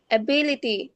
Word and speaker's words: ability: Ability. Ability. অ্যাবিলিটি মানে বর মধ্যে স্ট্রেস দিয়ে ধাক্কা দিয়ে বলতে হবে অ্যাবিলিটি।